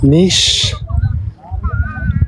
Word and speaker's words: niche: Droney the homie pronounced niche not nich. Nish.